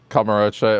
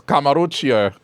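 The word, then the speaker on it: Kamurocho: Before she learned how to say Kamarocho, it was Kamaruchio.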